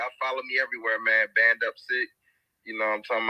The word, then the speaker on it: Band Up Sick: It's BANDUPSICK. So like Band Up and then Sick.